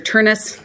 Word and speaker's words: Ternes: I represent Dr gisha and that they are pronounced Mr turnis and Dr gisha this case as most you